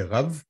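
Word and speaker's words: רַב: Mais c'est pourquoi que c'est important de comprendre c'est pourquoi les rabbins s'appellent Rav. Voilà, c'est simplement, c'est le B qui se prononce V, et ça veut dire rabbin.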